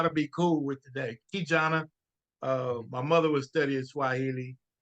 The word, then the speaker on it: KeJohnna: KeJohnna, my mother was studying Swahili, and actually, it's a great story. Yes, KeJohnna is how you pronounce it.